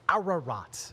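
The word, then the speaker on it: Ararat: both very close uh it's arat three syllables and then no F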